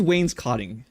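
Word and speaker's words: wainscoting: What is Wayne's cotting, chat?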